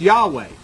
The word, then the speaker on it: Yahweh: then through through tradition this yhwh started to be pronounced Yahweh and that's how the